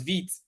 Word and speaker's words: Vite: So Rollup, Webpack, Parcel, Snowpack, Vite, which is pronounced as Vite, is also a module bundler.